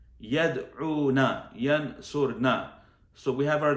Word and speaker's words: يدعون: So from these two, the women one, the female one, يدعون, actually rhymes with yansurna. يدعون, yansurna.